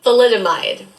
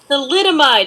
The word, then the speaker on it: thalidomide: about it is oh i know how to pronounce this word the mililide thalidomide thalidomide i'm like i know how to say it's in the billy joel song come on crystal you get it together thalidomide yeah they give somebody as prescribed that in